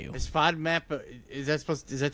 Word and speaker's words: FODMAP: Food map. Actually, I think it's pronounced FODMAP. F O D. It's only one O.